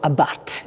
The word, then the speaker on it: Abarth: little bit more about Abarth, or Abarth, if you want to pronounce it like the Italians do.